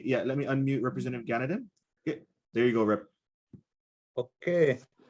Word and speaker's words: Ganaden: let me unmute representative ganadin there you go rip okay my name is ganadin if you pronounce it the kilikano way um i had an